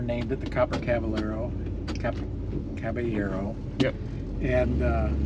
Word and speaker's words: Kaballero: Caballero. Yep. And correct pronunciation right here.